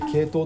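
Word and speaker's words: 鶏頭: の系統ですねニワトリの頭と書いて系統と読むんですけど読ん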